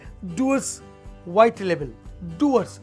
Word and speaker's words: Dewar's: Doors, it's नॉट डीवर्स. जो लिखा है डीवर्स, मगर इसको प्रोनाउंसिएशन जो होगा डूअर्स.